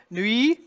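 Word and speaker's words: nuit: there's that Glide again nee spelled UI the T is silent Nui then we get the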